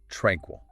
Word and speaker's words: tranquil: Alternative tranquil. Tranquil. Stress on the first syllable.